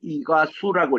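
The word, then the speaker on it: Iguazú: 이게 그 스페니시 말로는요, Z 발음이 S 발음이 나와요. 그래서 이과수라고 읽어야 됩니다. 이과수라고 읽지 않아요.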